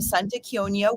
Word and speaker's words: Santa Chionia: sound good um so the Lost Boy of Santa konia which you pronounced correctly so thank you it's set in